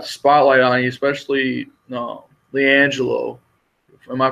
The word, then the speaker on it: LiAngelo: And it's just one of those things to, you got the spotlight on you, especially LiAngelo. Am I pronouncing his name right? Yeah, you got it. LiAngelo, okay.